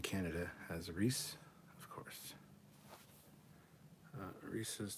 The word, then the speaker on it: Reese's: Reese's does not rhyme with feces.